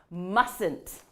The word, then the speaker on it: mustn't: looks like a mouthful so basically here's how you say it mustn't so you can repeat after me mustn't now what does mustn't